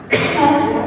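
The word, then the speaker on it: does: Terus kalau misal ini juga tambahan ketika al pakainya jit pakainya das bukan dus loh ya das meskipun tulisannya mirip mirip ya depannya cuma beda depan tapi ini bacanya ini bacanya das ya terus kalau misal kata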